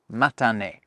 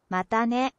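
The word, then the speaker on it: またね: Matane. Matane.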